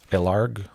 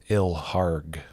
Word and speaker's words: Ilharg: Ilharg, the Raise Boar, or Ilarg. I've always pronounced it Ilharg. Sounds kind of cool, rough, and tough.